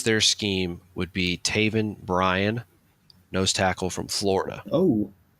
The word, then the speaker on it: Bryan: There's no T on the end of it. It's just Taven Bryan, not Bryant.